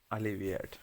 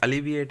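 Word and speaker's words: alleviate: एक सेकंड ठीक है इसका जो उच्चारण होगा वो होगा एलीवेट क्या होगा एलीट अली विएट ठीक है अली विएट यानी कम करना होता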